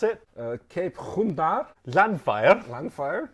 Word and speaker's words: Llanfair: Llanfair. Llanfair? The double L is not pronounced. Llanfair, yeah.